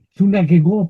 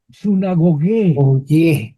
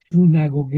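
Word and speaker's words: συναγωγή: Sunagegun tiene acento sunegó, perdón, perdón mal, hermanos. Sunagogué. Sunagogué. Sunagogué. En griego moderno, la tienen a pronunciar como i sinagogue y en un griego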